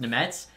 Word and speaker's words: Nemec: Apparently, Nemec's name is pronounced Nemets. That's just crazy to me, but I guess, you know, it's because it's Slovakian.